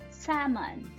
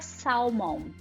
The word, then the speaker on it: salmon: Por exemplo, se você falar salmon, você não fala salmon. Então, salmão em inglês, você escreve salmon com A-L e tudo mais, mas na hora de pronunciar, você vai pronunciar salmon. E isso é muito interessante, porque você pode escrever S-E, acento, M-O-N. É como você pronuncia.